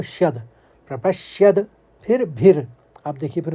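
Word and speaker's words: प्रपश्यद्भिः: श्यद, शौ के संग यो है तो श्यद, प्रपश्यद, फिर भिर, आप देखिए, फिर उसके बाद भिर निकालेंगे, फिर जनार्दन कहेंगे।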